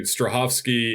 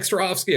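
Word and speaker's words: Strahovski: god because remember well so apparently strahovsky is like an americanized pronunciation or spelling of her actual last name she's much more polish in eastern european and allegedly sounds somewhat like strawski i'm not going to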